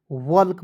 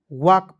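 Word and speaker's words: walk: डब्लू ए एल के वर्क पढ़ लेता है क्या पढ़ता है वर्क जो कि क्या है दोस्तों गलत तरीका है ठीक है वाक पढ़ना है एल को इसमें दोस्तों साइलेंट रखना है डब्लू से व ए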